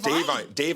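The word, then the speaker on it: Da'Vine: I think it's pronounced Davine.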